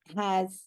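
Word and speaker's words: ה: um the definite article has sometimes a Pac under it is that right line yes sometimes a quet but they both are pronounced ha but one is short one is long is that right have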